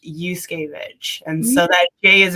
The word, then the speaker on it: Juszkiewicz: um it's so tricky it's because that j is silent so it's actually pronounced yusuke and so that gay